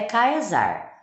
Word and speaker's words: Caesar: Caesar tá vai causar na verdade a pronunciação certa é kaysar em referência ao nome